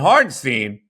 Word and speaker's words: Hartenstein: And Hartenstein, as you want, if you want to pronounce it correctly, follows the play astutely and gets a block on Maxey.